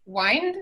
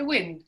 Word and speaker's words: wind: Y estas dos palabras que se ven igual, una se dice wind y la otra se dice wind, y son también distintas palabras. Uno es verbo, el otro es un nombre.